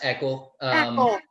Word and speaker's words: Eakle: It's pronounced Eakle.